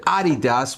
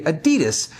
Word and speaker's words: Adidas: A lot of people are going to complain because I said Adidas when here in the States we say Adidas.